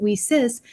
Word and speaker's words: WiCyS: We spell it WiCyS and pronounce it WiCyS like we sisters, because that's exactly what we are.